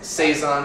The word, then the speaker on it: saison: Saison is the proper pronunciation.